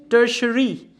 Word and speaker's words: tertiary: Tertiary. T-I will give the sh sound.